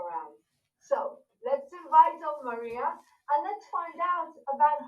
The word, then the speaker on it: Maria: have jane my name but you don't say marija you say maria so that was good what you said regarding